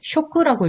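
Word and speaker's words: 食: 자, 그런데 일본 사람이 음독으로는 식자를 쇼크라고 읽죠.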